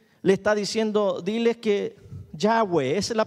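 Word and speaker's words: Yahvé: el que seré le está diciendo diles que ya ves la pronunciación ya ve ya ve el que existe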